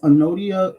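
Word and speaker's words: Anodea: self um the arthor of this book is anodia Judith her name is spelled a n o d e a um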